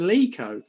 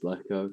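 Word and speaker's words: Leko: And I watched his interview with Blues TV, and he said it's Jonathan Lico.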